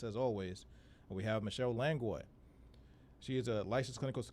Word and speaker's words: Langlois: Is it Langlois or Langlois? Langlois is the proper pronunciation, but Langlois is fine as well.